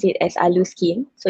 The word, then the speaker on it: Alluskin: we pronounce it as alu skin so it's actually like the combination of allure and skin so you combine it